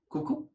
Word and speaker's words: coucou: when we talk about French greetings, that is coucou. Coucou is a very informal way of saying hi in French. And another word for hi in French is salut. So the first word is coucou and another word is salut.